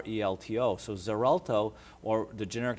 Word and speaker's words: Xarelto: this drug is called zerto it's it's it's pronounced with a z sound but it's spelled with x x a r lto so zerto or the generic name